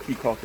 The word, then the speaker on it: Caye Caulker: Um so, we jumped on the ferry and headed over here to Keya or Kaka, however you want to pronounce it. But Kaka is the pronunciation of the of this um place here.